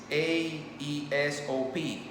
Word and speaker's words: Aesop: It's Aesop.